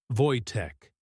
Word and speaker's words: Wojtek: They named him Voytech, pronounced Voytech, meaning the joyful warrior.